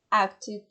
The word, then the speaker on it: acted: Entonces aquí acted yo veo que termina en ed, pero realmente no se va a pronunciar con ed, sino que debería sonar al final con una id.